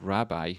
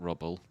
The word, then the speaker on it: rabbi: reading your name wrong they're called rabbi not rubble thinking like barney rubble that was getting me